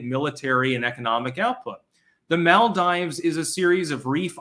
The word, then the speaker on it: Maldives: mald CR the Rubicon I'm going to call it the Mal Dives because uh I'm American and that's the way that an i is supposed to be pronounced ma early worm gets